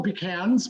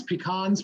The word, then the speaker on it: pecan: i took some beautiful pecans pecans pecans whatever you call them um i i'm giving you both pronunciations in case you come from a different part of the country all right and i